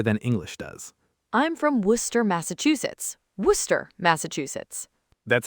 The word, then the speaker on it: Worcester: English learners look at the spelling and they panic. Worcester. They try to say every single syllable. Worcester. Which sounds nothing like the actual word. Nothing. The real word is Worcester. Worcester. Just 2 syllables. 2, that's it.